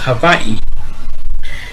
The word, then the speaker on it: Hawaii: move the show to Havi or Hawaii it's actually pronounced Havi and they what what